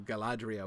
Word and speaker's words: Galadriel: to struggle with that so he simplified it to the dr because like dhr like that's not a continental combination that happens in English right so he thought people would really stumble over it and he didn't want people stumbling over Galadriel's name um so he uh so he he he changed it to to Galadriel with a d um you'll notice of